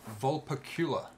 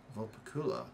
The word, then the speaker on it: Vulpecula: Like Dracula, but it's VULPECULA.